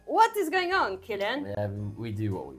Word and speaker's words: Cillian: How do you say his Killian.